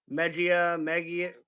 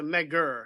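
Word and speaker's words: Megir: Megia. Well, it's a Megur. Sorry, Megur.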